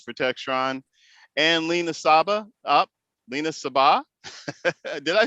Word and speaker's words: Lina Sabbah: Lina Sabbah. Did I say it right the second time? Yeah, you did. You got it. I finally got it. Lina Sabbah, who is a regional sales associate in sales